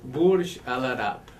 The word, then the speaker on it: Burj Al Arab: Burj Al Arab.